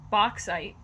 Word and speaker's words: bauxite: aluminum uh or and i'm going to try and pronounce it it's it looks like bauxite or like b-a-u-x-i-t-e in or with a high-aluminum